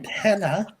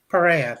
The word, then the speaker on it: Perea: Brendan Pena for Nope. Pena for Nope? I don't know. Perea, thank you.